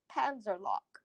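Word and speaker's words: Panzerlok: is Panzer, and then that last bit is LOK. Lock. Panzer lock.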